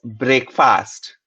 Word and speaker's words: breakfast: But in breakfast, it gets pronounced and rhymes with check, deck, heck.